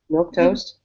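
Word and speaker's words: milquetoast: Milk toast.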